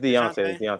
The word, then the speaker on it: Dejounte: Well, yeah, but I mean, you still got my man DeJounte. Is that how you pronounce it? DeJounte Murray? Deontay or It's Deontay. It's Deontay, bro.